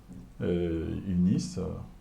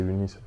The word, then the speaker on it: UNIS: D'accord, on va parler maintenant des UNIS, votre organisation. Aujourd'hui, avec d'autres personnes, vous avez fondé UNIS. Je ne sais pas si je prononce bien UNI ou UNIS. Effectivement, c'est UNIS.